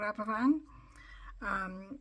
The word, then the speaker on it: Aberfan: of all the children in a place called Aberfan. It's spelt Aberfan, but in Welsh speaking we don't say the F sound, we say the sound instead.